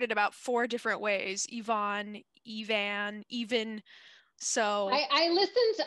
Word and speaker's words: Eavan: told me that her irish friend said it's eve ann so i listened to interviews and and uh evan seems to be the the way that she pronounced it and i see her all right